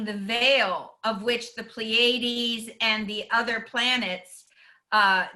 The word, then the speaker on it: Pleiades: not always just the so that's how it's pronounced the pleiades um to feel of